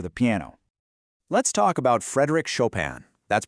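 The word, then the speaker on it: Frédéric Chopin: Let's talk about Frederick Shopan. That's pronounced Frederick Shopan.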